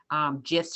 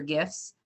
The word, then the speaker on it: GIF: the animation and the GIFs or GIFs, however you want to pronounce it, since both ways you're able to.